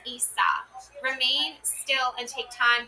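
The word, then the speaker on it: Isa: Um interpreting the rooms pronounced Issa.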